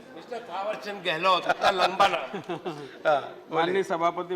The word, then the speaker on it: थावरचंद गहलोत: Mister minister थावरचंद गहलोत। ये नाम सही लिया आपने। Correct pronunciation, mister थावरचंद गहलोत, इतना लंबा नाम।